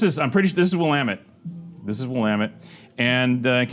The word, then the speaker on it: Willamette: wamit Valley Oregon wamit Dam it it's not willit willamet damn it I still don't know how